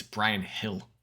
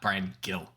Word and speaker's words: Brian Gil: and Tamsied saying, it's Brian Hill. It's pronounced Brian Hill, not Brian Gill. So he wanted to point out that we are not using the appropriate Spanish pronunciation of G.